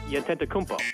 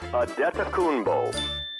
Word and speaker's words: Antetokounmpo: It's phonetically pronounced Antetokounmpo. only to be corrected by Bucks announcer Ted Davis. Ted Davis, the Bucks play-by-play guy. It is Giannis Antetokounmpo. Bull, not ho.